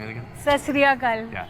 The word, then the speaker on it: Sat Sri Akal: Sat Sri Akal. Yeah, Sat Sri Akal.